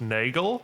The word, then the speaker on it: Nagel: I think your surname is pronounced Nagel. Yeah, nailed it. Yes, because it's very close to Afrikaans Nagel. I would have accepted that as well. Okay, Nagel.